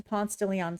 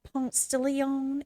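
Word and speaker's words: Ponce de León: It's not Ponce de Leon. It's Ponce de Leon. Ponce de Leon. They would say Ponce de Leon. You just have to say it right, because you can't be saying it some kind of way.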